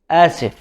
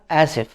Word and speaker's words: آسف: Ana asif. It means I am sorry for male. What is the difference here? Is we put ana, I am. So it's not only sorry, it's I am sorry. Ana asif for male.